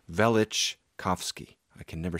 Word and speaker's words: Velichkovsky: People dispute the pronunciation of both his first and last name, but it's Velichkovsky.